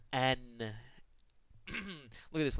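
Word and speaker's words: н: But in fact, it's the letter N, as in the English word note.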